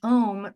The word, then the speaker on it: Om: And it just so happens that in the English language, Om rhymes with home.